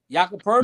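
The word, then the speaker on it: Jakob Pöltl: one of the first people I've ever heard pronounce Jakob Poeltl. Jakob, who is that? Jakob Poeltl.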